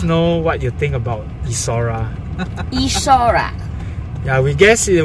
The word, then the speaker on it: Esora: No, Esora, how to pronounce? Esora. Esora.